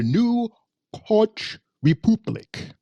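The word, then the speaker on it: New Catch Republic: Okay, so apparently the way this title is pronounced is the New Koch Republic.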